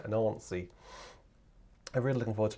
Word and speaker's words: Nancy: Sorry, the reason I'm laughing is because I was told that it's definitely not pronounced Nancy. I have to get used to saying it in the in the sort of the French Southern way, Nancy.